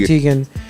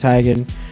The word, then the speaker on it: Teigen: Most people say Teigen. She pronounces it Teigen.